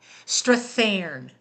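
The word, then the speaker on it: Strathairn: How do you pronounce it, Miss Swift? Uh it's David Strafan. Strathan.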